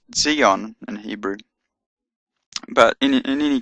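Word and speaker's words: Zayin: Zion has a surf sound sir as in Zion although Zion is actually pronounced zeon and Hebrew but in any case of the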